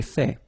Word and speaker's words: fait: So remember, final T is not pronounced. J'ai fait.